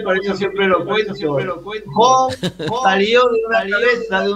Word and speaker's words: Jo: Bueno, en realidad oficialmente Jo, se pronuncia Jo, que es la mitad de José, que es mi nombre real, tan sencillo como ese.